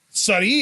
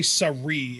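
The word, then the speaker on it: Sarray: first but with sari sari is kind of a weird word to pronounce in japan for english people because you've got like the really really japanese sounding r because if you say surrey it sounds off it's gotta be sunny and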